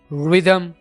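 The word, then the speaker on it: rhythm: And which, इसी तरह एच से पहले आर आ जाए, रिदम, राइनोसरस, और एच से पहले अगर जी आ जाए तो भी एच साइलेंट होगा, घोस्ट एंड गैस्टली।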